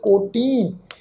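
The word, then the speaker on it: ਕੋਟਿ: तुसी देखो भी टैंके अखर की जिहड़ी सियारी की मात्रा है असी प्रोनाउंस नहीं करनी, कोट।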